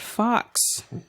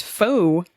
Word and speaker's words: faux: It's not fox. What? It's faux.